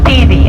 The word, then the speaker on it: Teide: It is the volcano Teide. You say Teide, I think. T-E-I-D-E. P-E-I-D-E. That's how we spell it.